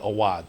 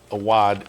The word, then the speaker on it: Awadh: had trained the horse he said a wad so I'm going with the trainer and thinking he's probably right and a wad is the the proper pronunciation and we're going to